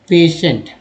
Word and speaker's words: patient: टी हुआ ही है, TI का उच्चारण क्या होता है यहाँ पर, कहाँ से, तो देखिए स होता है, श हो गया, क्योंकि ई भी है